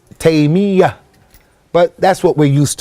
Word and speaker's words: Taymiyyah: pronouncing his name is Taymiyyah, with a shadda on the ya. Many people make it with takhfif and they say Taymiyyah. The correct way is Taymiyyah.